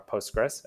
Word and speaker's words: Postgres: also the spelling so the commonly accepted ways to pronounce Postgres by the community are Postgres as I've been saying or PostgreSQL there I've heard things I post great sequel post GRA PostgreSQL and